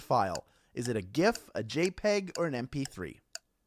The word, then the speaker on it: GIF: some people say gif some people say jif i say gif it's a hard g folks come with me